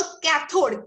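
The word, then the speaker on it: cathode: कैथोड भले ही सी से start होता है, हम सबको पता है कैथोड का स्पेलिंग सी से स्टार्ट होता है, बोलते हो कैथोड, के सुनाई देता है, राइट।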